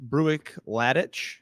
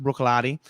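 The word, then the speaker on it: Bruichladdich: Brook that's correct and it looks nothing like Brook it is um it looks like it's pronounced breuck ladic maybe if you speak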